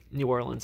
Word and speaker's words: New Orleans: I went down to New Orleans, or Nolans. New Orleans, actually, is how you pronounce it.